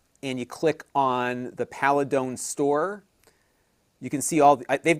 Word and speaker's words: Paladone: It is spelled, let me get the thing off here. It is P-A-L-A, so P-A-L-A-D-O-N-E, Paladone.